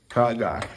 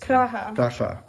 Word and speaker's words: Praha: Praga at its finest. Praha.